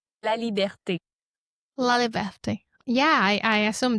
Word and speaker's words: Laliberté: Liberte. Laert. Yeah, I I assume that's why I didn't want to try to pronounce it.